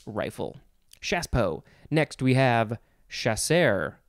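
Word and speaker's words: chasseur: shaspo next we have chaser chasser chasser spelled c-h-a-s-s-e-u-r i would want to say sure but it says chaser all these french words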